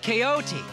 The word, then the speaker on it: Quixote: That's pronounced Quixote.